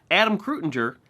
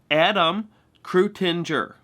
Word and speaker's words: Adam Krutinger: And notice, Adam Krutinger has 5 syllables. Adam Krutinger.